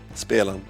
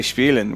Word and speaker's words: spelen: So it's more of, because in German an IE is pronounced with an E sound and an EI is pronounced with an I.